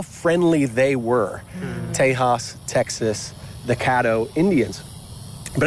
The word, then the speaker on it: Tejas: indian people they had a word taisha which the spanish pronounced tejas which then detect the uh white settlers then called the area texas which meant friends which